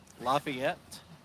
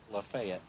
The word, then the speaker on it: LaFayette: we were last in Lafayette, Georgia, or as they say here, Lafayette. So if you hear us say Lafayette, it's not that we don't know who the Marquis de Lafayette was. That's just not how they say it here, and they who have the town get to name the town.